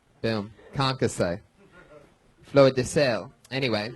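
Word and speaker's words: concassé: You could have probably easily have pronounced concasse correctly. Concasse? Yeah, did I say it right? Boom. Concasse.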